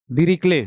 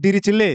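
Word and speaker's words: Dirichlet: ठीक है ठीक है डरिक्ले ठीक है आधा लोग आधे यहां के टीचर भी प्रोनाउंस करते हैं डिचले ठीक है मतलब वो आदमी जो स्वर्ग में होगा वो भी गुस्सा नाम तो गलत मत प्रोनाउंस करो ठीक है ठीक है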